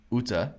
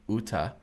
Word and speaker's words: Utah: thought this was funny best wishes from UTA sort of like the state Utah uh that's not how we say Utah that's not how we